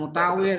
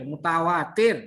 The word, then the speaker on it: mutawatir: Bukan mutawir, mutawatir. Membacanya aja salah. Mutawatir.